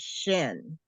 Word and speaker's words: shin: This dot has to do with how you would pronounce it. Over here, it would be a sh sound. Over here, it would be like a S sound.